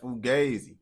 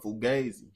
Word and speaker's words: fugazi: Yeah, fugazi. Yeah, you said it right. The other time, I don't know what you said. But fugazi. Yeah, that's how you say it.